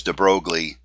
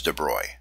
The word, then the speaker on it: de Broglie: PhD student in 1924 many of us don't speak French and we we probably pronounce his name as de Broglie you will certainly hear some physics professors pronounce it that way but my understanding is that we should pronounce it as Dubrow in 1924 he published